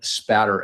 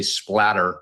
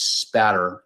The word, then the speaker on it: spatter: discipline known as blood spatter evidence. A lot of people mispronounce it and say splatter with an L. It's spatter, s p a t t e r.